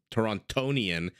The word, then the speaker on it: Torontonian: Toronto is a Toronto torontonian you do pronounce that second D anyway any no no